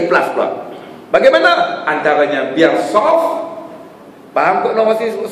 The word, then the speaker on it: saf: Ada orang tulis rumit SAF, saf. Saf tu jadi pronunciation dia rosak. Dia soft, soft atau barisan lah terjemahnya, tak apalah barisan itu.